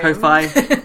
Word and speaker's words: Ko-fi: And on top of that, we also have coffee, or Ko-fi, however you pronounce it. Ko-fi. Ko-fi, like I hi-fi.